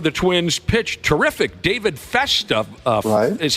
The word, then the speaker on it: Festa: David Festa is how you say the name, Festa?